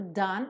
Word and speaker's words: done: Agora o done, uma sílaba só, done. Esquece esse E final.